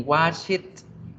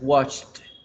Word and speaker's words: washed: No vamos a decir ni watch it, ni wash it, ni washed. Nada, es washed, washed, washed.